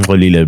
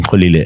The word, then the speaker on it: Xolile: middle name is Xolile, but I call him Xolile because I know that it is and I can pronounce it. Yeah. So his name is Nelson, but I call him Xolile, and he laughs every time because he's like,